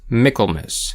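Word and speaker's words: Michaelmas: Though the name is pronounced Michael in English, the correct pronunciation of the holiday is Miklmiss for Michael's mass, a bit like Christmas rather than Christ mass.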